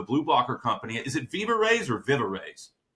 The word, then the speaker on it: VivaRays: Is it VivaRays or VivaRays? VivaRays.